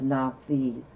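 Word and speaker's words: Nauthiz: deal with severe constraints is the lesson of now fees and now these is spelled n-a-u-t-h-i-z the name of the room this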